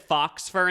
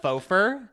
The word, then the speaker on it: faux fur: Also, we think we said fox fur instead of faux fur.